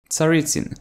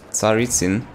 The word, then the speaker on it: Tsaritsyn: along the lines of Tsaritsyn and if you want to Russian pronunciation well it's something like Tsaritsyn but then again it's complicated this is the